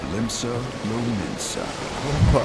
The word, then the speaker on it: Limsa Lominsa: the Lotamo Sea, lies the maritime city-state of Limsa Lominsa. I was pronouncing it right.